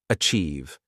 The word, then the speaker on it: achieve: The pronunciation is a tsi I've. Say it with me. Achieve. The ch sound is soft like in chair. And the iive sounds the same as in believe.